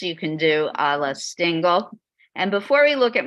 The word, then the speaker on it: Stingel: Pronounce it. Stingel, S-T-I-N-G-E-L.